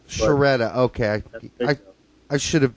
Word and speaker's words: Sciaretta: Skoretta from Yanks Abroad. Uh, thanks for did I pronounce that right first of all? Uh it's a little tricky Italian name. It's Sharetta. Sharetta.